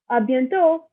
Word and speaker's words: à bientôt: And see you later is à bientôt. Not pronouncing the T at the end. Do you see that? It's à bientôt.